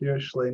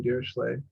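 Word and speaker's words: Dirichlet: and I pronounce it deay not DEET the Germans call him DEET the French call deay the deay function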